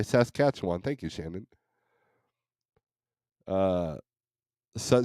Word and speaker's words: Saskatchewan: morning SAS Koch cat Saskatchewan okay says catch one thank you Shannon uh